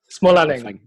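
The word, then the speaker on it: Smålänning: maker myself well i think it's my name small Alec sorry I if you see it written down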